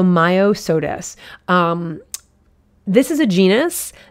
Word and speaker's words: Myosotis: entomology um here so maya sodis myosotis um m-y i'm trying to break it up so you can hear that myo m-y-o so myo-sodas um this is a